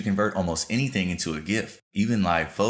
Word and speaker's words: GIF: that lets you convert almost anything into a gift even live photos now I realize this